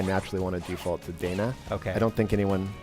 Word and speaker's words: Dana: of the game and it's lacrimosa of Dana not Donna here's the thing so here's the thing technically the thing technically if you want to say at the Japanese it'd be Donna okay being you know